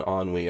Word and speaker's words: ennui: So now we have educated the masses on ennui. I hope you people appreciate that. 42 all I chill want to put know you have to pronounce it AN-WE. Ennui.